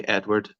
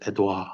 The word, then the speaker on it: Edouard: But I look at his name, I'm just so tempted to say Edward, but it's Edouard.